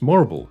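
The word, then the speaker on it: Morrible: Wicked's greatest lesson is perhaps that anyone whose name rhymes with Horrible is not to be trusted. As Morble is later revealed to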